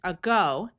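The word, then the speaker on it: ago: So, this is a go.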